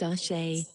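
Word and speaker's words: Àṣẹ: shall and blood nine what is ash pronounced ashay look at word wall vocabulary on back whiteboard in blood gives magic 10.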